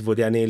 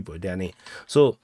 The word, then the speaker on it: Vodiane: real name is actually Vodiane. No, I prefer the English pronunciation Vodian, because that makes me sounds cooler.